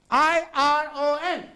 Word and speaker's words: iron: Here's a word, I-R-O-N. Iron. Yes. Iron. Here, R is silent, it is iron.